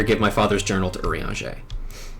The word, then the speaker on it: Urianger: Please, before I reconsider, give my father's journal to Urianger. It's nuts that that man's name is pronounced like that. Welcome to the French.